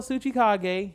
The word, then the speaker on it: Tsuchikage: a t though uh even the t is silent so yeah just go look up how you spell suchikage and if you made